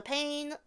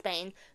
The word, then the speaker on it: Bane: Anyways, um, and last but not least, the pain. The Bane pain. Bane. It's Bane.